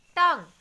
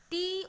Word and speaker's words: tongue: Tongue, Tongue, tongue. So the pronunciation of U is missing.